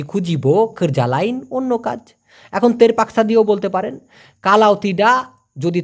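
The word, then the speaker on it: terpaksa: চান সেই ক্ষেত্রে হবে তেরা পাকসা পি এ কে এস এ উচ্চারণটা হবে তের উচ্চারণ করেন তো প্লিজ তের পাক সাতের পাকসা যদি তা না হয়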